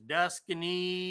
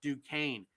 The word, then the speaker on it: Duquesne: It looks to me like it's Duscany, you know, but they pronounce it Duquesne.